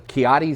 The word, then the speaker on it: Ciotti: But now I have a lesson, Ciotti Cellars.